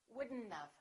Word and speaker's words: wouldn't have: Would not have becomes wouldn't-of.